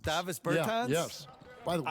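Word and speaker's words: Dāvis Bertāns: Davis Bertans. Davis Bertans?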